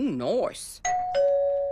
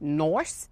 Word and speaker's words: nice: Ooh, nice. Nice. Kim, I don't mean to be rude, but it's actually pronounced Noice. Nice? Noice. Noice. N-I-C-E, Noice. Noice. Noice. Like ice.